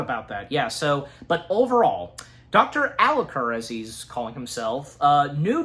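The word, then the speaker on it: Alucard: with this, like, because I forgot how it's pronounced. His disguised name, Dracula's name, do you remember what it is? Dr. Alicor. Thank you, Dr. Alicor. Yeah. Is that the correct way to say it, Alicor?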